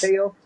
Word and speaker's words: Teo: good defensively as a Tio. Yeah, You said his name somebody is that'll Teo. It's pronounced Teo. His name pronounced Teo.